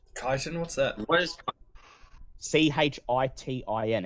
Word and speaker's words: chitin: Like, I also thought that was pronounced chitin. That's right. Chitin, chitin, I've heard it pronounced both, so whichever one you prefer.